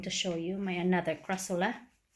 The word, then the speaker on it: Crassula: show you my another crassula. The crassola, some of them pronounce it that way, but I don't think